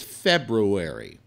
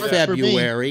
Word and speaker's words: February: around here I'm going February oh I hate that it's not February it's February look how it's spelled there's an are you in there it's February not February or February is February Happy New Year's or